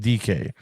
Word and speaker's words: Dike: His last name is spelled DIKE, pronounced DK.